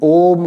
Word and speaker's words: ओम: ओम का उच्चारण आपको करना है। इन्हेल किया आपने और अ उ और म में आपने विभाजित करके गुंजन किया।